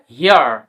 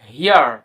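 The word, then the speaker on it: hair: তারপরে কখন ইয়া উচ্চারণ হয় দেখো এইচ এ আই আর কি হবে হিয়ার, হিয়ার।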